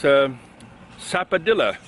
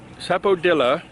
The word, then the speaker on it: sapodilla: And it's Sapodilla, or Sapodilla. It's pronounced two ways. One that's easy, Sapodilla, and another way, slightly, the dilla at the end is pronounced a little bit different in another way.